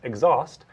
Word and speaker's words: exhaust: second so in that word exhaust it's normally pronounced exhaust the syllable is stressed fold them at the